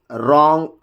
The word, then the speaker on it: wrong: The letter W is not pronounced at the end, at the beginning of a word when it is before the letter R. When it is before letter R, it almost becomes a silent letter.